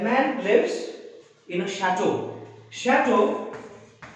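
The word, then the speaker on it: château: Chateau is again a French word.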